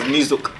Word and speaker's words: niyok: So they pronounce the Y as a Z.